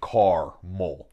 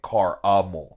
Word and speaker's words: caramel: I'm not saying car-mol, yeah. C-A-R-M-E-L. I'm not saying that. Mm-hmm. I'm saying car-a-mol, mm-hmm.